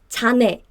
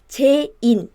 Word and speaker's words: 제인: Because in Korean you read this as 자네. But this is completely different from the actual name, Jane, right? So forget about the spelling. So just think about the pronunciation. It should be 제인, 제인, 제인, Jane, Jane. Okay, and rule number 2.